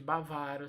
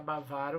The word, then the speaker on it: bávaro: mais fácil né é bávaro em vez de bavária você pronuncia bávaro você não acentua tirar